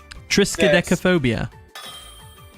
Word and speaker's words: Triskaidekaphobia: Triskaidekaphobia. Shit. Is that how you pronounce it?